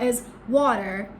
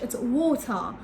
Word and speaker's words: water: So when the letter R is after a vowel or at the end position of a word, you're not going to pronounce it in British English.